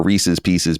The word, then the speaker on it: Reese's Pieces: They are Reese's pieces because it rhymes.